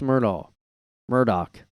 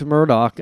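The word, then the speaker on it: Murdaugh: family another Law Firm family like the Alex Myrtle Murdoch I said it wrong I think Alex Murdoch I don't know why it's pronounced like that because it's like d-a-u-g-h yeah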